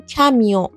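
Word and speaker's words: camion: واقع تلفظ هاهم نزدیکه مثل کامیون توی فارسی میگیم کامیون ولی توی فرانسه میگیم کمیو یا توی فارسی میگیم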